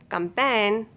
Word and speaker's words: campaign: If a word ends in GN, then letter G will be silent. Align, assign, design, sign, design, consign, campaign, ran, foreign.